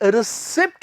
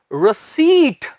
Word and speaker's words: receipt: इसे रिसिप्ट मत कहें, इसका सही उच्चारण है रसीट, रसीट, रसीट, रसीट।